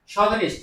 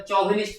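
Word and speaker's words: chauvinist: आसो स्पेलिंग को जीवा शोविनिस्ट C H A U O V I N I S T तो एटाला correct spelling एटा सी रो आरंभ होइछि एटा चौविनिस्ट पडिबनी एटा C H बादल शोविनिस्ट पडिबो तार मैसेज A में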